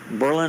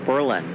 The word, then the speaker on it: Berlin: Mrs thaga Mrs Saga it's like Berlin Ohio they want to call it Berlin Ohio it's Berlin Ohio tsunamis look at that